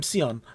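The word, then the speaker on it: Sion: hi yes um i'm seon i what what's going how is what's your name see like the color s-i-o-n is this the time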